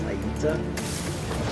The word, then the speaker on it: Aita: I believe it's pronounced Aita, or Aita. Pretty sure it's Aita.